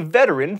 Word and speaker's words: veteran: fun napoleon was a veteran three syllables not two of the napoleonic wars